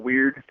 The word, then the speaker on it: UUEIRD: Like, this label Weird. It's like it's spelled UUEIRD.